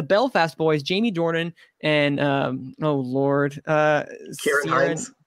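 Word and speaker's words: Ciarán Hinds: The Belfast Boys, Jamie Dornan and, Kieran Hines. Kieran Hines, thank you.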